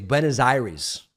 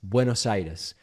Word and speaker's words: Buenos Aires: city of Buenos Aires, I could pronounce it in these mangled American ways. Benazir's, that is Iris. It's all sounds almost like a disease, and it is very much not a disease, my friends. Buenos Aires.